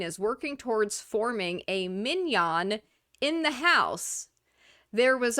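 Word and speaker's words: minyan: Randy Fine told me he's working on quote unquote the Minion Project. They want to get 10 Jewish House Republicans. Although the various so funny that it's pronounced minion Jewish Republicans have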